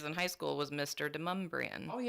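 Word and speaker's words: Demonbreun: Oh, Deumbrian.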